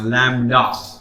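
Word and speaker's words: lambda: थोड़ा प्रोनाउंसिएशन ध्यान रखना, लैम्ब्डा।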